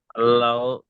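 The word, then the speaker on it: الله: এখানে আল্লাহ শব্দের ইজরাটা করেন। আল্লাহ, আল্লাহ শব্দের তাসদীরের ডান দিকে যাবার এসেছে, তাই আল্লাহর লামকে আল্লাহর নামকে এই পুর করে পড়তে হবে।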